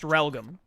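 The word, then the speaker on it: Realgam: garden r-e-a-l-g-a-m it's like it's like real gam but it's pronounced religam huh that's how it's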